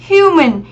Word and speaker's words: human: Human. Human thì nó sẽ là trọng âm mấy? Trọng âm 1.